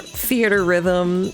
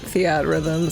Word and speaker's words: Theatrhythm: I know it's probably pronounced theater rhythm, but I always just pronounced it Theatrhythm, so I can't not at this point.